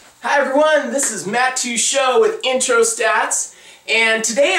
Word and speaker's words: Teachout: to pronounce my name so I pronounce it as to show right so that's how I pronounce it if you want to know a lot of people call me teach out but that's okay I'm